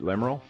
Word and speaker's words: Lemriel: We have Lemriel with us. I did pronounce that right, Lemriel? Yes, Lemriel.